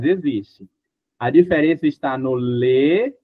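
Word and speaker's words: les: Já no plural a gente fala lê aberto, ó. Lê. Lê serpã.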